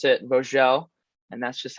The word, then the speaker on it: Vogel: It's a German name, so it is Vogel, but my dad is actually French and grew up in France, so they pronounce it Vogel, and that's just how it is.